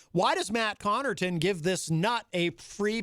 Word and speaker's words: Connarton: That sounds a lot like my name, Connarton, except my name is Connarton, or Connarton, but often mispronounced as Connarton.